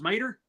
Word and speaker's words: Mater: My name's Mater, like Tub Mater, but without the tub.